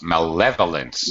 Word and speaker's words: malevolence: malevolence that's pretty close malevolence malevolence second syllable stress malevolence is a a